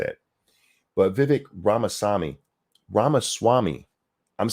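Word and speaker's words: Ramaswamy: learned how to say it but Vivek ramasami Rama Swami I'm saying his last name right but the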